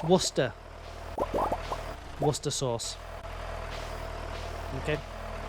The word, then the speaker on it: Worcester: How do you pronounce Worcester? Exactly like that, Pew Pew. Worcester. Right. Next time someone asks you about the sauce, it's Worcester.